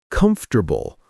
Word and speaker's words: comfortable: Come for tabable. That's what most people say when they read it. But in spoken English, we usually say comfortable or comfortable.